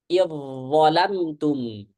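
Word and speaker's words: إذ ظلمتم: Idzalamtum. Gimana bacanya? Idzalamtum. Jangan lambat. Jangan lambat masuk ke dha. Idza langsung ya, jangan isba'.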